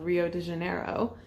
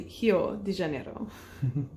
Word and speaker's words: Rio de Janeiro: The letter R is pronounced pretty differently in Brazil. It's pronounced more like how we pronounce H. So a city that I have my whole life called Rio de Janeiro is actually Rio de Janeiro.